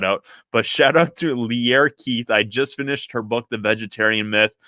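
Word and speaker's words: Lierre: It's not Leary, it's Pierre, but with an L. So Lear Keith.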